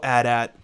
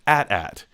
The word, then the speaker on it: AT-AT: anyway what are your thoughts about the lego at at uh and just for anyone who's confused yes it is pronounced at at it is not an atat it's an ad